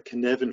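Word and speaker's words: Cynefin: second is to go and read about the kinevin framework i am that's spelled with that f c y n e f i n uh can evan framework is absolutely fantastic it's a great harvard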